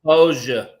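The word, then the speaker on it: Popo Agie: That's over on the Popol Aggie. I know. And does the Hams Or Fork the Paposia, as you would say it correctly.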